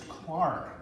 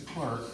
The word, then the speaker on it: Clerk: his name correctly it's Clark the British pronunciation for c r k is Clark American English it's clerk but since he's British I use the British pronunciation Clark is not Maxwell's